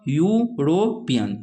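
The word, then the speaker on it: European: अब देखिए यूरोपियन, EUROPIAN, इसका उच्चारण कीजिए तो यूरोपियन, तो यू यह आया ना, यह तो कॉन्सोनेंट है, तो कॉन्सोनेंट यहाँ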